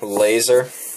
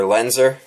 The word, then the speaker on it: Lenser: In particular, this headlamp right here, this is the LED laser, or lenser, sorry, pronounced that wrong, LED lenser headlamp.